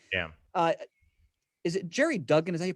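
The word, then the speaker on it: Gerry Duggan: with this now like yeah uh is it jerry duggan is that he pronounced his last name jerry duggan yes yeah he he wrote this and excellent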